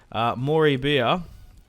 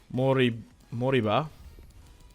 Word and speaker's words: Moriba: Moribia, former Barcelona lad, now plays for Leipzig. We've got a lot of creative midfielders. I feel like Moriba.